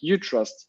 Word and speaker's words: Utrust: Like Utrust. First of all, how do you say it? It's like a U and then trust, but then if you say it in another language, it's going to be Utrust.